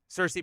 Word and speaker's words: Cersei: Nick Fury for somebody else right right um Cersei pronunciation is correct cool okay uh yeah that that's